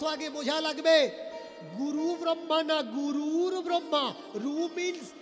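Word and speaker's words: গুরুর্ব্রহ্মা: অনেকে বলেন গুরু ব্রহ্মা। না ভাই ব্রহ্মা কখনো গুরু নয়। ব্রহ্মা গুরু। ব্রহ্মা কাকে দীক্ষা দিয়েছেন যে ব্রহ্মা গুরু। গুরুর ব্রহ্মা।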